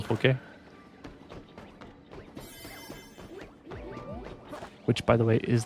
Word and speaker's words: poke: Were you trying to spell poke? Which by the way is the proper pronunciation.